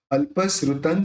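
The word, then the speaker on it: अल्पश्रुतं: आप देखिए यहाँ पे त के ऊपर बिंदी है, लेकिन आगे स्र है, होठ मिलेंगे नहीं, तो अपन उसका न उच्चारण निकालेंगे, अल्पश्रुतन श्रुतवताम।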